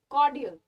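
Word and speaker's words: cordial: बोलोगे कॉर्डियल नहीं बोलोगे कॉर्डियल कॉर्डियल रन साइलेंट हर ठीक है आर इस साइलेंट है जब आप इसे बोलोगे तो आर की आवाज नहीं आएगी कॉर्डियल कॉर्डियल क्लियर इट्स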